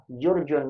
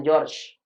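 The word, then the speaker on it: جورج: Jurjun dibacanya, tapi George. Bukan dibaca apa? Jurjun, bukan. Ini dibacanya George.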